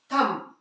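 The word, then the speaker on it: thumb: फैट गया है अरे उसी तरह से थंब है ना इसे हम थंब बोल दे ये तो यहां भी देखिए हर जगह क्या हो रहा है जो बी आया है वो एम के बाद आया है तो जब भी क्या होगा बी एम के बाद आएगा तो वो क्या होगा साइलेंट होगा है ना देख लें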